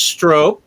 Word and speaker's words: stroop: and banana flavors okay stroop is pronounced stroke okay stroke wobble but they're